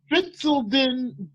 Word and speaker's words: Filtzeldin: see, it's Fitzaldin, but the L is before the T. The L is silent. It's Oh, you don't say the first L.